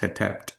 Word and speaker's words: Hetep: And this is pronounced Hetep.